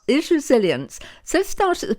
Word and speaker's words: Isresilience: Isresilience. Have I said it right? Said it correctly. Yes, you said it beautifully. Right. Isresilience. Isresilience.